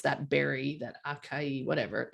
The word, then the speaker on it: acai: It is our new, whatever that, I never knew how to pronounce that berry, that acai, whatever.